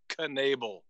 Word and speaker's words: Knebel: It's good for a broadcaster to say Knebel with the K. There's a lot of poetry in that.